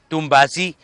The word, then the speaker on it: تومباسي: على الحي سموه توم باسي، وبقت طوال تنطق كلمة واحدة بقت توم باسي.